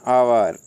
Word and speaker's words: hour: For example N orange, an आवर। देखिए HOUR, इसको हावर बोलते हैं अपन, लेकिन अपना ये गलत प्रोनाउंसिएशन है और इसको बोला जाता है आवर।